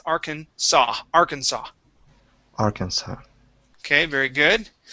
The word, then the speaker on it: Arkansas: that that s okay you didn't pronounce the S at the end but the that first s okay You' said zah so Arkansas it is Arkansas Arkansas Arkansas okay very